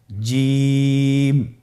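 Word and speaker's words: جيم: যাবে এর মাখরাজ হলো জিহ্বার মধ্যখান তার বরাবর উপরের তালুর সঙ্গে লাগিয়ে উচ্চারিত হয় আপনারা পিকচারে ছবিতে দেখতে পাচ্ছেন যে জিহ্বার মধ্যখান তার বরাবর উপরে তালের সঙ্গে লাগিয়ে উচ্চারণ করতে হয়।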